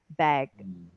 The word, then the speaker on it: bag: So the only way is just to drag it a little longer. Yeah, she's got a strong back. She's got a strong bag, and then make sure you end with a g sound, bag, Back.